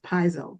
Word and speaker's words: piezo: But it's real interesting to me to know that this is attached to, I might have said piezo, but I think it's pronounced piezo, Piezo.